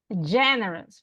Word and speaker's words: generous: Generous, right? Porque no decimos generous, right? No, or generous. Generous. So it's on the first syllable.